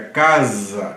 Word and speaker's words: casa: português não em português quando você tem casa c a s a o s no contexto interválico ele vira Z na pronúncia aí fica casa e não caça se for caça aí